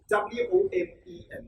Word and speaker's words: women: W-O-M-E-N. Now, singular one would be woman, which is W-O-M-A-N. This is plural, and we are going to pronounce this women. Women. Women. Woman, singular. Women, plural.